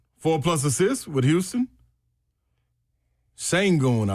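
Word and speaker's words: Şengün: Sangon, I believe, is how you pronounce it. Six plus rebounds. Shangon over 26 and a half points, rebounds, and assists.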